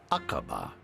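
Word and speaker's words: Aqaba: pa at all yes do you think i've pronounced acaba right now oh they're never going to get it it's akbar thank you cheers are you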